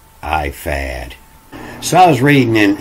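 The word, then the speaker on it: ephod: it here you know it's spelled e-p-h-o-d but here in in the hebrew it's a p-u-d and they say that's a f as a e fad or ifad so i was reading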